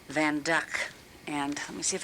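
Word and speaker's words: Van Dyck: the van duck people will say it's a van djk but it's pronounced van duck and let me see if I can get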